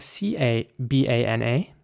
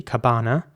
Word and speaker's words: cabana: And in British English, it would be pronounced cabana. So the same principle as in banana, but, basically with a C, cabana. And in American English, it's, similar again, it's cabana.